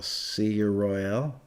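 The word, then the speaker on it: Si'yir Royale: It's S-I apostrophe Y-I-R Royale. See your Royale, I think.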